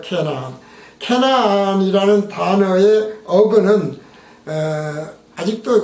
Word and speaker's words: 가나안: 가나안의 히브리어 원래 발음은 캐나안이에요. 캐나안.